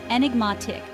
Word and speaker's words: enigmatic: or full of secrets the pronunciation is enigmatic with the stress on the third syllable when you encounter something